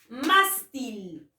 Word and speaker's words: mástil: A ver, la palabra mástil. Mástil. ¿Debo o no debo de tildar? Mástil. Mástil. Ah, tiene la mayor fuerza de voz en la penúltima sílaba.